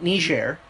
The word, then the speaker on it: Niger: Like, I mean, Niger. What? Oh, that's how you pronounce it? Yes, there's only one G. Ooh, and it's French.